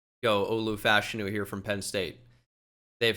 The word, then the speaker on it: Olu Fashanu: We're learning it's pronounced Olu Fashanu.